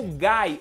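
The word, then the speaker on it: Guy: Primeiro demônio primordial que eu vou trazer pra vocês é seu Gai ou Gi, assim como você querer chamar, né?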